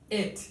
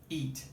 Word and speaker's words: it: Então, é muito comum que a gente pronuncie essa palavra aqui, por exemplo... It. É assim que fala ela. It. A gente pronuncia ela assim, eat.